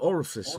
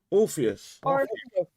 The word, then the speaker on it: Orpheus: How do I pronounce it? I want to call it Orifice all the time. Orpheus. Sounds good to me.